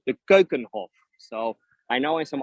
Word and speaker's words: Keukenhof: from amsterdam and these gardens are called the kokenhof so i know in some other languages people are pronouncing it completely different but it is in the right dutch pronunciation it is and kokonhof by the way is standing is a dutch